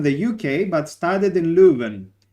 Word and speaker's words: Leuven: uk but started in leuven it's a it's called leuven in um dutch or louvain in uh french but i pronounce it